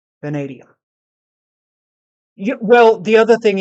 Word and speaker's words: vanadium: Ah, because of Oh, that steel. vanadium. Not vanadium. Okay, vanadium.